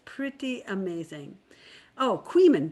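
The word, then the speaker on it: Coeymans: Oh, Queeman. Deborah Chessman says it sounds like C-O-E-Y, man, pronounced Queeman.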